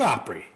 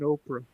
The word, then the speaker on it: Grand Ole Opry: Nashville, Tennessee, the home of the Grand Ole Opry. Grand Ole Opry, man. You see, I know Luis been watching Oprah. I said Opry.